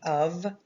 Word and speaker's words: of: the word of right the f makes a v sound right of well in this one